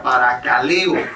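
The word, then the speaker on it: παρακαλέω: La exhortación palabra griega parakaleo, con K, parakaleo, con acento en la O, es una advertencia o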